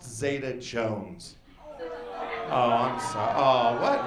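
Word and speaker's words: Zeta-Jones: counter she's like very funny sir but it's pronounced zeta jones oh i'm sorry oh what really how do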